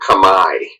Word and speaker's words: Khmer: speak in their words they call it kami I don't know why we spell it camair but it comes out of their mouth kami still a thriving culture